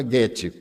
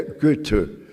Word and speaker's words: Goethe: E existe Goethe, eu sabia pronunciar Goethe, antes eu pronunciava Goethe, mas eu tenho uma amiga suíça, e ela me disse, em alemão não tem os sons agudos, é Goethe.